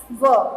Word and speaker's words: were: वेयर नहीं बोलेंगे, WHERE, वेयर होता है WERE, वर। Correct pronunciation is वर।